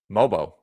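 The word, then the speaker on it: Mogbo: the new news item you properly pronounced the rookie Jonathan mobo last name G is like lasagna uh Shannon take us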